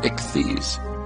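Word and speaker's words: ἰχθύς: In Greek, the word fish is spelled Iota Chi Theta Upsilon Sigma, pronounced ichthys.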